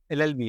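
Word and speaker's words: LLB: ऑफ लॉ तो ये एलएलबी अलग-अलग पढ़ रहे है लव नहीं पढ़ते एन आईसीआईसी ब्रांच एन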